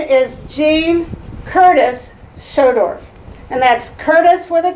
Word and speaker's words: Schodorf: on the ballot my name is Jean Curtis schodorf and that's Curtis with a K Jean Curtis and it's pronounced schodorf it's a little hard to pronounce but I